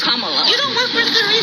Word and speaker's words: Kamala: We work with her, so we know how to say her name. Earlier you said Kamala. The way she pronounces her name is Kamala.